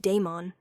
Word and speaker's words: Daemon: Call me Daemon. He pronounced it Daemon, with emphasis on the first syllable.